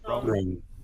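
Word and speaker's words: Roan: And on the red carpet, Chapel Rowan. Rowan. Is that how you say her name? Ran. How do you say it? Ran. Ran. Chapel. Ran. Ran. There's no vowels in there.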